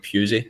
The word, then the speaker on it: Pusey: I'm glad you pronounce his name like Pusey and not something else.